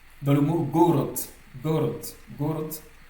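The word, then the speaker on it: город: Dans le mot gorot. Gorot. Got le D ici se prononce T.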